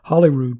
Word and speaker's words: Holyrood: area it's called a holyrood park or hollyrood park is how they pronounce it in scotland and you can see